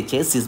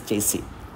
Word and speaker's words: chassis: Actually, if I say about pronunciation, the last S is not pronounced here. So we say chassis, but it is not chassis, it is chassis.